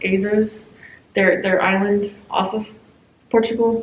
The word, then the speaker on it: Azores: But they were in, I think it's pronounced Azores, their island off of Portugal.